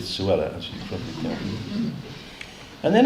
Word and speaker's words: Suella: the first one is Cruella which rhymes with Suella as you probably and